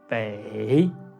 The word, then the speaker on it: bei: It is the third tone. Bei, bei, bei.